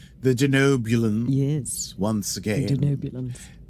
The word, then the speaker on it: Denobulans: And it was cool to mention the Denoblians once again. Nope. Nope. Did I say it wrong? I said Blian, didn't I? The Denobulans.